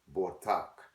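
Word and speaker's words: בטח: Coming out of the Blue Letter Bible, Hebrew pronunciation as well as definition for the word bold. And Strong's H982, Botak.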